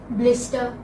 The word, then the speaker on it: blister: You know, R is not pronounced again, and I say it